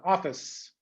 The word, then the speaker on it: office: But in English, we don't say the vowel sounds. We close the consonant sounds strongly. Office, okay, say it to yourself, office.